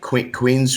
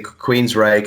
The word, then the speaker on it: Queensrÿche: who it is or they'll say queen's queen's right queens what is it and i'll say queens reich and i'll spell it and they go